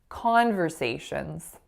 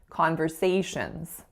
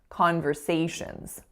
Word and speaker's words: conversations: and say beginning beginning the next word I said conversations so I'm stressing the first syllable ah but in reality we would save conversations conversations so the stress should be on the third syllable a finally in this